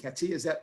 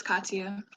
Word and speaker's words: Katia: Is it Katia? Did I pronounce that correctly? It's Katia.